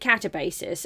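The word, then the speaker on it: Katabasis: Apparently people don't know how to pronounce it. I pronounce it Catabasis.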